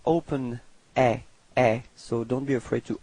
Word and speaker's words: est: And then for il, masculine, il est. So it's quite strange because it does sound the same as tu, okay, but then there is this final T, but you don't pronounce it.